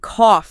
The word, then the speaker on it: cough: You have through sounding like ooh and cough sounding like off.